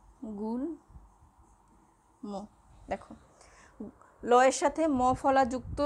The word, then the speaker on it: গুল্ম: যদি আমরা বলি গুল্ম, গুল্ম, গুল্ম, দেখো লয়ের সাথে মফলা যুক্ত রয়েছে কিন্তু মফলার ময় উচ্চারণটা হচ্ছে গুল্ম।